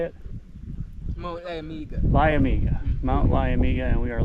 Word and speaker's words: Liamuiga: Liamuiga.